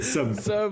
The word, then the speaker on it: Seum: votre noms bien prononcé tu l'as très bien prononcé som yes les gars je vous laisse vous introduire